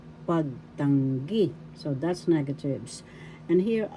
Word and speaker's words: pagtanggi: Negatives, meaning in Tagalog, pagtanggi. Pagtanggi. Negatives, pagtanggi. First syllable pag, second syllable tang, third syllable gi. The third syllable has the accent, pagtanggi.